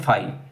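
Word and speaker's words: phi: your answer will be फाइ ठीक है तो इसको हम कैसे बोलते हैं प्रोनाउंस क्या करते हैं फाइ जब कुछ भी कॉमन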